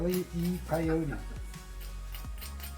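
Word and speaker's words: Wile E. Coyote: Wy E Coyote should be easy.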